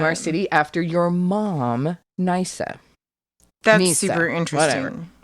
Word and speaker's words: Nysa: So apparently, when Alexander the Great reached this city called Nisus, I'm so sorry, it's called Nysa.